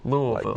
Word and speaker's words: Louisville: How do you say it? Louisville. With the with the with the Lou. Louisville. Yes. Like you got to make the O and the U really dominant in there.